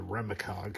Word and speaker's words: REMAcog: product here, and it's, if you want to pronounce it all together, REMAcog, but it's REM and then the ACOG.